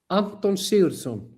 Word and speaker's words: Anton Sigurdsson: Anton Sigurdsson, but in your case, you say Anton Sigurdsson.